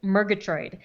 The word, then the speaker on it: Murgatroyd: me I did but the last name is actually phonetic it's Murgatroid and I will tell